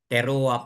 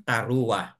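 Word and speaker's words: teruah: word that is teroa kapag ah basahin po sa modern teroa po ang kanilang pagkabigkas but sa atin po sa yahud yat Iyan po ay Tara Okay po So bakit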